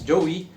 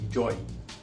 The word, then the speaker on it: Joie: originated from the uk most of us might pronounce it as joey but the correct pronunciation is actually joy original price of this